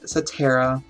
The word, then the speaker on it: Setria: One, we have a title, which is Satara, and you can pronounce however you think you want to, but it is spelled Setria, which we'll make a cover page for it today, part of the book process. But it is Satara, and it did come